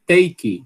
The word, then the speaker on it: take: Nas antigas tem uma banda chamada Take That, que eu gostava que só era. Mas é Take That. Né? Diferença grande do pronúncio. Enfim, aspiração aqui, né?